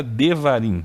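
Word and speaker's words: דברים: Aqui era para ser uma kamatsu, vogal A, davarim. Por que que tá devarim? Por que que mudou? O que que aconteceu? Ó? Em uma sílaba originalmente aberta, antipretônica, ela se tornou antipretônica, o hebraico reduz a vogal, passando-a a um shivá vocálico.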